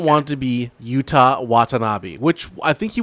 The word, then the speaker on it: Yuta: No, Yuta. Yuta. Not Utah. Okay. Yeah, Yuta. Yuta He man. wasn't named. He wasn't named after the state founded by Mormons. He's UTA. It all depends on pronunciation on that one. I mean, Yuta Wheeler, the Yeah. AEW wrestler, like that, not like Utah, the state Yeah.